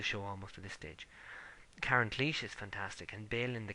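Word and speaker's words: Karen Cliche: I like Karen Cleach, as that apparently is how to pronounce her name.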